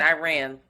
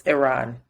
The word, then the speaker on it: Iran: not Iran Iran because I keep saying Iran like the people on CNN and it's Iran apparently um protests are still